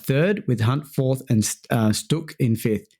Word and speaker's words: Stuck: Louder qualified third with Hunt fourth and Stok in fifth. Is that how you pronounce his name? Benny Sto. Stuk. Yeah.